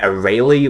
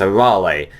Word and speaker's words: Arale: the original Dragon Ball they kept on saying a Rayleigh which I mean it's not correct you know it's a rolly that's how you say it so yeah the